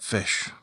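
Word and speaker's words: Fisch: And if you want the Rolls Royce of force and a bits, get fish. That's spelled F-I-S-C-H.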